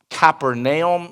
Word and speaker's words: Capernaum: Over here you have Capernaum, or Capernaum, if you want to pronounce it correctly.